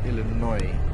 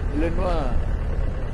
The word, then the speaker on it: Illinois: Most English people pronounce it Illinois. Illinois.